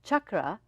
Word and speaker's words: chakra: of all the word chakra is pronounced chakra because it's the the Sanskrit words they are um they're they have different meanings the vibrations of it they shift so just like you say Chuck you know you can